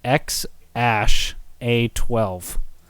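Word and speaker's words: X Æ A-12: So it's spelled like this, which is pronounced X Ash A12.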